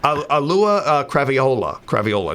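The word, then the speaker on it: Auliʻi Cravalho: I just mispronounced. Alua Craviola.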